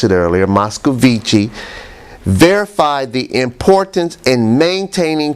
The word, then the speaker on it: Moscovici: consistency and influence consistency a consistency according to moscow vichy i'm sorry i mispronounced it earlier moscovici verified the importance in maintaining consistency in other